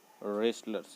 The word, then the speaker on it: wrestlers: W silent रहेगा, रेस्टलर्स इसको पढ़ेंगे. W को साइलेंट कर देना है और WRES रेस्टलर्स करेंगे.